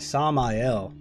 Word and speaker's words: Samael: take care of you samayal oh my god sami l that's how you pronounce it that's just one of the ways you can pronounce it samayo jackson yes